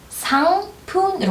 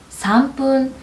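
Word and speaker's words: 三分: 상 어때요? 상 받침 있죠? 받침이기 때문에 뒤에 영향을 줍니다. 상푼으로 가시면 돼요. 삼푼.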